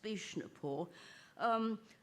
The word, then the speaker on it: Vishnupur: This particular example comes from Vishnupur, which I'm told is often pronounced Bishnupur.